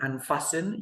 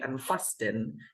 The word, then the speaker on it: unfasten: We don't pronounce the T, okay? Fasten. Do you remember unfasten? You know, you don't say unfasten.